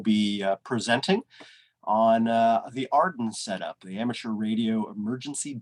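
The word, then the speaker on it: AREDN: radio emergency data network which is often pronounced arden based on the acronym made from its first letters arden provides a way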